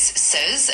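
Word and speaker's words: seize: Uh 16 is says and it's spelled s e i z e.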